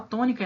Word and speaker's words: tônica: Olhem a palavra tônica. Tônica. Qual a sílaba mais forte? To. Né? É a primeira.